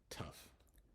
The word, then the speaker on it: tough: So the first example is tough, tough, tough. So the GH becomes an F sound.